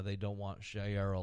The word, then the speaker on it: Sharia: how they don't want Shera law is that how you say it Shara sh Sharia Sharia Sharia La we don't want Sharia